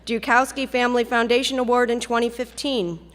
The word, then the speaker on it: Joukowsky: was honored by being given the first Joukowsky, pronounced correctly, Joukowsky Family Foundation Award in 2015.